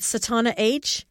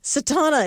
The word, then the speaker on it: Satauna: s-a-t-a-u-n like november a so think sat like i sat down a-u-n-a and there i